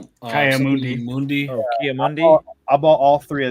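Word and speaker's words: Ki-Adi-Mundi: I bought a Emperor Palpatine, a Doc Andor, and a I can never pronounce the guy's name right. The Alug Mundi. Kiamundi. Oh, Kiamundi.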